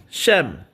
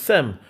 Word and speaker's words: Shem: If you need just to be in, Shem, as you see, it's pronounced Sem, verse 36, which was